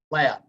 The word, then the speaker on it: Hlad: evening virtual evening with allen lab silent h alan is is with